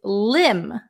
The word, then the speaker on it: limb: the next one is limb limb silent be a limb is very